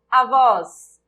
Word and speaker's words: avós: Avós, avós, avós, avós. A sílaba tônica é o vós.